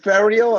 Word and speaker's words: Ferial: And is it Ferial? Am I pronouncing you correctly? that's correct.